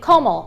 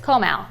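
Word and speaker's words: Comal: Okay, next work people transplants say como but the real way to say it is Komal.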